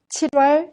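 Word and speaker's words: 칠월: 7월 16일이에요. Good. Let's examine the pronunciation. As you can guess, 7월 is pronounced 7월. 7월. The consonant 릴 in 7 together with the next vowel 워 is pronounced 러.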